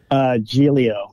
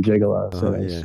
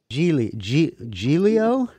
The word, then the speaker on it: Giglio: Of course, everyone pronounced my name Gigolo. Gigolo.